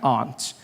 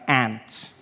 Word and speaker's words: aunt: For instance, I pronounce the opposites of uncle as aunt. I say my aunt. Out here, you say my aunt, which to me is an insect, which made me look